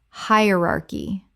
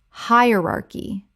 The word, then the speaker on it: hierarchy: Hierarchy. Correct pronunciation. Hierarchy. Four syllables with the stress on the first. The c h makes a k sound.